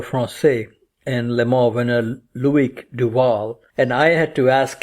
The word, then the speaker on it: Loïc Duval: with your fellow Francais and Le Mans winner Loïc Duval. And I had to ask him before the interview what is the correct pronunciation, because I hear so many variations. And he said it's Loïc Duval.